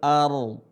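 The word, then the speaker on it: الأرض: Huruf hamzah tetap dibaca a, bukan or.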